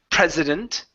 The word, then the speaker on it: president: Okay, so this first one here, like the president of a country, this is prez with a voiced S there, president.